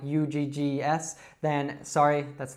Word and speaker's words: Uggs: very short word, just Uggs, Uggs. So it's that schwa sound again, and you can almost think of it, it sounds a little bit to me like something that a caveman would say, ugh.